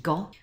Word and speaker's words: 午: order now we start our character for noon which is pronounced go with a little downward